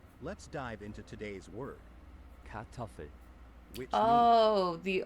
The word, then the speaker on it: Kartoffel: Now can you just tell me how to pronounce it? So without further ado, let's dive into today's word. Kartoffel.